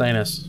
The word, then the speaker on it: Janus: Janus! Pronounced anus.